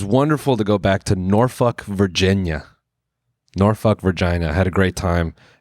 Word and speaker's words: Norfolk: It's not Norfolk, it's Norfolk. And then I guess if you're really local, they'll tell you it's pronounced Norfolk.